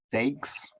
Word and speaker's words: stakes: Stakes. The stakes are higher. STAKES. Yes, that's right. Stakes. The stakes are higher. Not like it sounds, it's the exact same pronunciation as the type of food, steak.